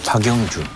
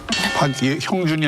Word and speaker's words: 박영준: 이게 지금 보면은 MB의 박영준. 형준이 아니라 박영준. 발음 조심하셔야 됩니다. 영자하고 형자하고 다르지.